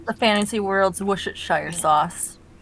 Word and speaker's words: Worcestershire: Yes, it's the fantasy world's Worcestershire sauce. Worcestershire. Worcestershire. It's just Worcestershire. Worcestershire, yeah. You knew what I meant. I know it's spelled Worcester, but that's not what we call it here, where the city is actually located.